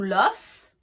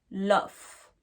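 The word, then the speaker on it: laugh: donc tout l'offre là le verbe love s'écrit avec un G1 h mais faut faire le son F tout LOF donc le son o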